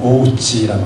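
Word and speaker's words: 大内: 최근에 일본의 큰 대자 안내자 쓰는 내외할 때 일본 발음 오우치라고 하잖아요.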